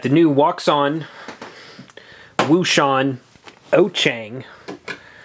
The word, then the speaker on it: Wouxun: walks on woan oang oang is the correct way to say it in Chinese the Chinese translation is oang like o- c h n g oang but I call it waon because that's what everybody else because that's how it's spelled some people call it